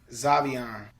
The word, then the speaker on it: Xavien: requested i don't know there's an x it sounds like a z zavion anyways uh oh uh